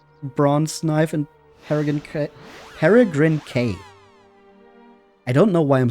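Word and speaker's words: Peregrin Quay: I also think it should be pronounced quay, but in the cutscenes they always pronounced it K.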